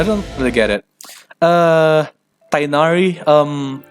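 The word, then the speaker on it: Tighnari: really get it uh tainari um I watched a video about how to pronounce his name rule zero it is not freaking tinary cheers he seems really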